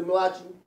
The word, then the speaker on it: Malachi: But we're going to go into Malachi. And that's the way I pronounce it for a reason, because the word ma'lach is what we see, and then chi represents energy, and the word mala,